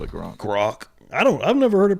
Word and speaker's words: Grok: I call it trogs, but I'm probably wrong. I mean, it's the only way I can think to pronounce it. So. No, it's bad as Gronk, because there's no N in there.